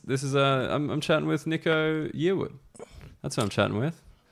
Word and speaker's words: Yearwood: But it's Yearwood.